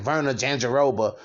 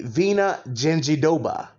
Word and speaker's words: Virna Jandiroba: been saying her and i've been saying verna gingerova which i'm probably going to continue to say but i'm going to say it correctly vena genji doba versus amanda ibas okay